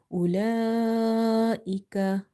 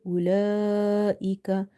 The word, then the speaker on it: أولئك: In the word أولئك, this mad is madde muttasil, because after this thing you see there is a hamza in the same word. So if you put vertical harka on something, or if you give them the madda letters, the rule will be same.